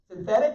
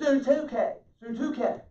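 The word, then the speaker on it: Syntyche: And I implore, synthetic, that's kind of what it looks like, but that's not it. It's Suntuke.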